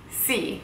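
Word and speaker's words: sì: same way no how do you say yes see would you like some help see you can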